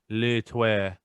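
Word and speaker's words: Le Tueur: It's Le Terreux.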